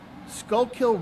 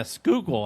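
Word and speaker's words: Schuylkill: up in the tidal Skullkill River in South Philadelphia. Yeah. Skookul, I think they pronounce it.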